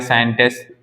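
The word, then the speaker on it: scientist: like ठीक है search तो देखो इनमें सभी में हमने एस के बाद जो सी आया इसका बिल्कुल भी प्रोनंसिएशन नहीं किया इसमें सभी जगह क्या रहा है साइलेंट रहा है चलिए आप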